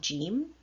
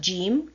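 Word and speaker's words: جيم: dot in the center the sound of gym can be either je or ja both sounds are present in the English language so this is the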